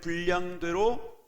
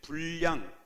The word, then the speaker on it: 분량: 각 사람에게 그리스도의 선물의 분량대로 은혜를 주셨느니라 니 아멘 자 여기에 불량 발음이 어려워요 분 량 이라고 읽어야 되지만 그렇게 금연 9 공부를 조금 띄엄띄엄 하신 거죠 그래서 리스도 에 선물에 불량 이렇게 것 해요 근데